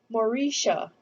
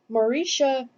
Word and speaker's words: Mauricia: that's a beautiful name the new mothers cried mauritia mauritia they cooed into the pink blanket mauricia it was one we returned to the states